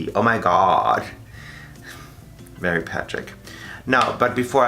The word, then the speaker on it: OMIGAUD: It's spelled O-M-I-G-A-U-D. Oh my god.